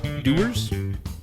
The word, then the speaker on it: Dewar's: the whisky Dan radio tonight we are drinking doers think it's I pronounce it it's spelled like it says dwarves